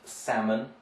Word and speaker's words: salmon: one so it's pronounced salmon right the fish the redfish so we would take out the l the l is not pronounced there so these you just